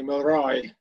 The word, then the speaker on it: Milroy: It was great to hear Hugh say Milroy, because that's the way our name is pronounced in Scotland.